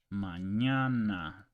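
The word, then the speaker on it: mañana: but it's pronounced it's it's called an and it's pronounced as Canon Canon Canyon in English or onion so let's give you an example Manana ESP SE okay manana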